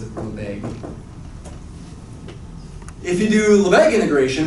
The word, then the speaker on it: Lebesgue: It's not Lebesgue, as far as I know. I always hear people pronounce it Lebesgue.